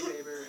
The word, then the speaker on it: Weber: more importantly okay so looks like Weber they always say vber and so that's how they always pronounce it so I just following